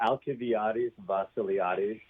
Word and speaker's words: Alcibiades Vasiliades: First of all, he holds the, how do you pronounce that chair, Dr. Watts? The Alcibiades Vasiliades Endowed Chair.